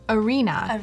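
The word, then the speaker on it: Are.na: used for mood boarding I was oh it's arena arena it's but it's spelled um ra e dot na okay so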